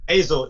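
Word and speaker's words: Eizo: Ezo. How do you spell that? Azo, E-I-Z-O.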